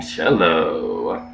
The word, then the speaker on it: cello: But we've got the Full Moon Cello. It took me way longer than I cared to admit to learn how to pronounce that word.